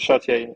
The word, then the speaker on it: Chartier: How do you pronounce Yeah, it? Chartier.